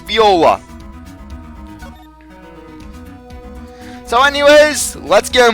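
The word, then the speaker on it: Viola: his name like in I pronounce it wrong it's be Ola so anyways let's get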